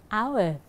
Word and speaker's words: hour: Là bởi vì chữ h này là silent sound, âm câm, cho nên từ này được phát âm bắt đầu bằng hour, thành ra ta phải dùng là an hour.